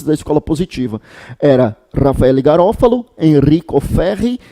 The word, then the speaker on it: Garofalo: Lembre comigo que Garofalo é Garofalo mesmo, né? Se escreve Garofalo porque é a expressão italiana e por isso que o próprio paroxítone aí não é acentuado.